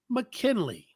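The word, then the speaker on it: Ma'Kynnleigh: y n n l e i GH is pronounced McKinley mckenley M right man just spell it right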